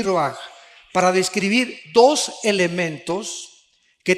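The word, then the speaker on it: רוח: rach con r de raul a H se pronuncia ro por ejemplo cuando hablamos del Espíritu Santo El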